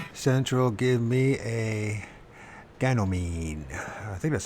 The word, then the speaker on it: Ganymede: Supernatural, give me a Ganymede. I think that's how you pronounce it. Was it Ganymede. Ganymede? So it's like a reed, mead. Ganymede.